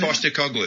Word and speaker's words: Postecoglou: Angie, how do you pronounce it? Ange Postecoglou.